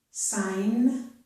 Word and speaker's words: sign: Okay, so G plus N at the beginning of a word or at the end of a word usually results in a silent letter G. We hear only the sound for the N, so we hear N.